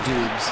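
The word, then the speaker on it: Doubs: Well, it looks like it should be pronounced doobs.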